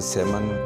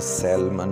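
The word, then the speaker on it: salmon: एक किस्म है और इसका एल साइलेंट है, इसे सेमन पढ़ा जाता है, इसे सैलमन नहीं पढ़ा जाता।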